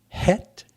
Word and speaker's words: Chet: two Hebrew letters is the Chet pronounced het and the Tet the